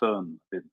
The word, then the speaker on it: Föhn: So I read this description of the Föhn wind, and had you only pronounced it in the correct way, Föhn, then I would have understood immediately.